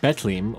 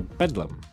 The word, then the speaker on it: Bethlehem: londers simply as Bethlehem some residents pronounced it more like betelim or Bedlam the modern spelling popped